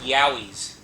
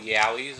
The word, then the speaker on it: Yowie: Little Yowis or whatever they're called. Spelled with a Y. Like Yayo. No, it's spelled Yahi. Like Yow. Like that kind of Y.